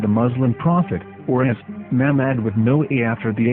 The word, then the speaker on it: מחמד: the name of the Muslim prophet, or as Mamad with no A after the H. According to Ben Yehuda's Hebrew English Dictionary, it is correctly pronounced as Muhammad, not Mamad.